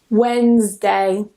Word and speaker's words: Wednesday: And the last one that doesn't follow any of the rules I mentioned, Wednesday. So, it's just two syllables usually. Wednesday.